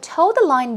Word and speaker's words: toe the line: line toed the line it's pronounced exactly the same way but toe the line basically means to follow